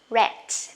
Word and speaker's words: read: the base form but for the base form we pronounce read for verb past participle we say red okay the same word